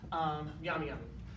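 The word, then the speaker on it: Nyami Nyami: Pronunciation is right there. Yami Yami.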